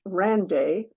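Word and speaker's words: Wren Day: the ren day and which should apparently be pronounced Rand day although I don't think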